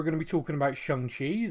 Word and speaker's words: Shang-Chi: to be talking about shanxi the film i called shanghi until i actually watched it um then next week